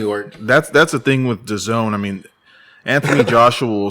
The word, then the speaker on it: DAZN: I guess it's how do you pronounce it? Their streaming service? Oh, DAZN? DAZN.